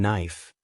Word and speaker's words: knife: The K in knife. It's there but it's silent.